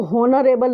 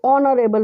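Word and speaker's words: honourable: से लिखा है लेकिन हम इसको हॉनरेबल नहीं पढ़ते हैं, हम इसको ऑनरेबल पढ़ते हैं, तो ऑनरेबल में ओ की साउंड आ रही है, एन अर में एच साइलेंट है और यहाँ पर भी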